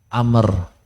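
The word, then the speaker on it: عمرو: bacanya Umar Kalau tulisannya Ain mim ro wau bacanya Amr itu bedanya ya Amru Amr maksudnya baik Anna rasulullahi Sallallahu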